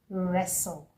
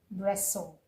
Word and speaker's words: wrestle: Okay, but we say wrestle. Real is a twocllable word that and the t is also silent just like the previous one we looked out. Okay, we have wrestle wrestle and not wrestle.